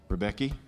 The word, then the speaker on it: Ribbecke: list I I use the I put the emphasis on the wrong salable rebecky rebecky from Santa Rosa Hillsburg